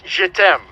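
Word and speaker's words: je t'aime: she signed j e t apostrophe m it's pronounced jedem for i love you and also it roughly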